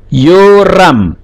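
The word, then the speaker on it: יורם: Yoram. Jadi bacanya Yo, vokal panjang, atau yang tetap mempertahankan yod he-nya menjadi Yehoram.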